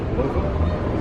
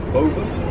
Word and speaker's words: Boven: who's Dutch, you say, how do you say above in Dutch? Boven. Yeah, say it again for everyone. Boven. Boven. But the people here, because they bastardize the word, they say bo, meaning above, okay?